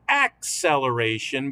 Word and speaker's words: acceleration: But I've been accenting the syllable, the first syllable in this word, acceleration, because there's another kind of celeration.